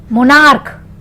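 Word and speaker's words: monarch: जैसे मोनार्क क आ रहा है, मोनार्क का मोनार्क्स।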